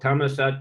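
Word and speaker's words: Thammasat: in Bangkok it's a law University it's called tamat University but when you look how it's written it says dharmashastra DH University but pronunciation is d d but but is dhra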